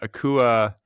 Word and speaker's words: Akua: the proper pronunciation? Yes. And Akua is dealing with like double bereavement.